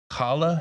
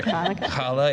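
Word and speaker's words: challah: we she brought in Hala is that right is that how you say it the bread yeah okay I want to make sure kala yeah and um yeah I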